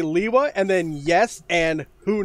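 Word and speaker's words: Lewa: then cited greg saying i have always pronounced it leewa but i would probably consider the movie pronunciation official which by the way is also leewa i don't know i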